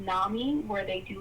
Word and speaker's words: NAMI: NAMI, so it's an acronym, so it's NAMI.